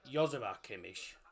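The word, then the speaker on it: Joshua Kimmich: pronounced so you know Joshua kimich as people call him in Germany it's pronounced yua Kish y Kish for some reason a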